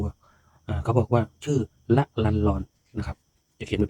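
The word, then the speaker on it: ละลันลอน: นะ ครับ นะ ครับ ชื่อ นี้ อ่าน ว่า ละ ลัน ลอน ชื่อ เต็ม ๆ นะ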